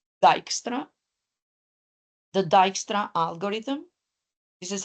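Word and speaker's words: Dijkstra: his first name Edgar this is how you pronounce it and then the last name dyra the dyra algorithm this is how we refer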